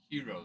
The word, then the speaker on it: gyro: It's their uh Well, it's spelled like gyro. It's this one spelled like gyro, you know. I was I was told it's said it's hero though.